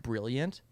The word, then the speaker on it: BRLLNT: It's it's by BRLLNT, pronounced Brilliant.